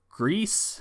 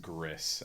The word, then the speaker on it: Gris: so we got concrete genie grease I think is how you pronounce it kind words life is strange - Orsi of Solitude what you got Connor I think it's pronounced Gris actually but out of these